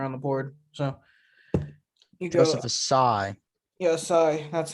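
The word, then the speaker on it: Ossai: second best player on the board so joseph assai yes sorry that's how you say his name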